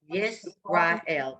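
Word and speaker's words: ישראל: No, it's an S. Hold on, let me do it here. S. It's an S, regular S. Israel. Yes, hold on. Yisrael, good.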